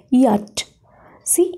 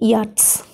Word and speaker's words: yachts: Then, yacht. See, yachts. Y-A-C-H-T-S. Here, C-H is completely silent.